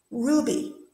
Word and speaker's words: Ruby: Ruby, is it on Ru or Ruby? Okay, it's on the Ru, good.